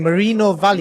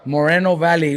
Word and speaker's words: Moreno Valley: going to say uh Riverside, but we're in Marino Valley. Valley. Never heard of Marino Valley. Is it? How do you pronounce it? Moreno Valley.